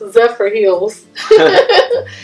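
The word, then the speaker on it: Zephyrhills: we lived in Michigan zillis but here is pronounced zepher Hills it claims to be born better um it's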